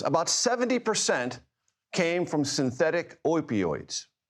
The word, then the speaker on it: opioids: And of those, about 70% came from synthetic opioids. Opioids, that's the proper pronunciation.